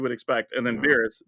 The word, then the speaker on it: Beerus: Beerus, Beerus, like beer us. Just like the Dragon Ball Z character, because that's where the Yeah, meme comes from. but yeah, just awaken Beerus.